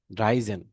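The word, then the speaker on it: dreizehn: তো 3 + 10 যদি হয় সেক্ষেত্রে তার দ্রাইউন জাইসিস, উন্দ দ্রাইউন দ্রাইজেন, উন্দ হবে না এখানে, জেন ড্রাইজেন, কেমন?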